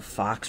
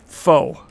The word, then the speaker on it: faux: I was like, what the heck's a fox relic? I've never seen that word before. I don't know what that means. Like, that's kind of weird. It's faux.